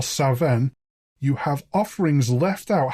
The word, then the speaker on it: Samhain: given half a chance come sa in in Scotland where I believe it's pronounced more saen you have offerings left